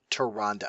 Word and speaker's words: Tyrande: Tyrande. Say it with me. Thank you. Tyrande. Thank you. You're my new best friend. I hate people who pronounce it with an E.